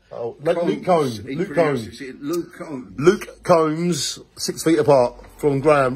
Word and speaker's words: Combs: me and graham luke comes six feet long it comes no it's pronounced like a comb oh lovely cone luke combs six feet apart from